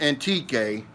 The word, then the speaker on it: Antique: man it was uh antique which is antique how we want to pronounce it here in the philippines it's not too far